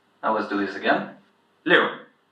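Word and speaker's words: 六: When you see an "i" and "u" you pronounce them as if separately and you put them together so liù A "q" sound is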